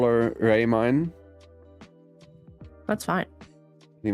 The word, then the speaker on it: Raemyne: works it's not right Ray mine is the correct way to say it I get pissed when people call me raymin how about a I get rather like Ramen or lemonade so much well I